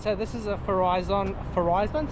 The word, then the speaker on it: Farizon: this is a horizon forizon so you pronounce it horizon Verizon Verizon and it's